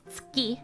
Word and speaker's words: 月: Tsugi with a soft G. No, it's tsuki with a hard one.